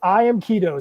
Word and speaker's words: I Am Keto: It's I Am Keto. So think about it like key going in your door and like Play-Doh, keto.